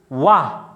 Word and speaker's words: one: how do we pronounce wha one w correct even though we write o but we pronounce as w so in the even